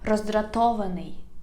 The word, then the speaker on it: роздратований: It is a little bit compound word for you, but you can divide it into syllables. And then you can practice to pronounce it faster and faster.